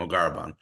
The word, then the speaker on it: Mogharreban: to read it right it's not so hard to pronounce once you hear it m garaban so um as a